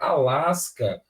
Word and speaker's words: Alasca: Porque quando eu pronuncio a palavra Alasca, o que é que eu tenho? Eu tenho o som do S e tenho o som do C separado. Ou seja, eu consigo ouvir os dois sons do S e do C.